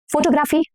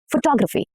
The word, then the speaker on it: photography: Okay, this word. Photography? Photography? No. Photography. Photography.